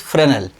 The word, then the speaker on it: Fresnel: there named freshnal fresnel spelling is freshnal but pronunciation is fresnel and the scientist is there young y-o-u-n-g young